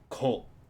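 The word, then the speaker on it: 顧: Alternately pronounced ko. It is kaeri miru or ko.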